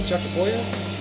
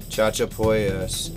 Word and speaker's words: Chachapoyas: Chachapoyas?